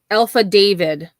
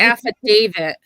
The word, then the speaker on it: affidavit: Miss Alpha David yeah Alpha David it's an affidavit Betty there's no David in the affidavit yeah or hyperbole oh